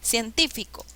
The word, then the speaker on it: científico: científico menos científico fatal cuál es la sílaba que se llama la mayor fuerza de voz científico y me dice que si lleva la mayor fuerza de voz en la ante penúltima sílaba es esdrújula y ciencia es brújula